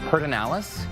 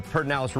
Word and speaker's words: Pedernales: Pedernales? Oh, okay, you know this one. Pedernales? Yeah. So Perd, they put the R in a completely wrong spot, and who knows why